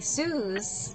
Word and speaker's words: Suze: But like, and then as an adult, people started calling me Suze, which I like because it rhymes with shoes.